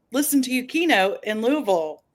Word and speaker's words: Louisville: And I would never have imagined that this journey would have taken me to, and I'm glad you reminded me, it's Louisville, because Nurse Rosa, who, we all know, I had to hear it from her a couple times before I pronounced it correctly.